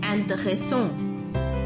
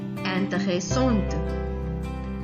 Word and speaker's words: intéressant: So the last consonant in a word is most of the time silent in French. So that is why in the masculine singular form we will not pronounce the consonant T at the end. It will remain silent. But when it changes into the feminine form, there is an E at the end. So we will pronounce the T.